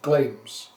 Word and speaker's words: Glamis: He was son of Finnel, who was Thane of Glams, spelt like Glamis for the English people who don't know how to pronounce Glams.